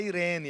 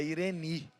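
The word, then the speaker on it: εἰρήνη: Então não é Irene, é Ireni.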